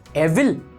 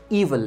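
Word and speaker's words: evil: एविल। नो, ये पढ़ा जाता है ईवल।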